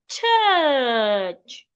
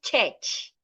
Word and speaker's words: church: And the last word, church, not church. The U and the R there sounds church. We can have more word examples like first.